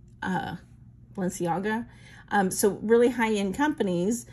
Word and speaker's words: Balenciaga: Bossier uh how do you say that word balenciago uh Balenciaga um so really high-end companies as I said